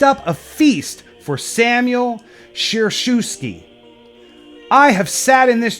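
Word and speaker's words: Schereschewsky: a feast for Samuel sure shoe ski I have sat in this chair for over 20 years said Bishop Samuel eyes of Joseph sir shoe ski pronounced sheriff chef ski I apologize it seemed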